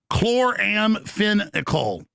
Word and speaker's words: chloramphenicol: That's what on record, banned in over 150 countries, chloramphenicol does. Spelled kel- k l a r a m f e n or pronounced spelled c h l o r a